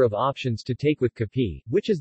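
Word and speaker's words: kape: options to take with Cappy which is the Filipino pronunciation of cafe coffee breads and pastries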